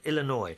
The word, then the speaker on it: Illinois: a Native American name so the S is silent oh where's where's the S then Illinois oh yeah Illinois yeah I have I said that before Illinois it's Illinois Native American I've been